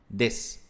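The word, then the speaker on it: です: que é a estrutura des ela é escrita assim ó Deso Mas você fala des pronúncia é outro assunto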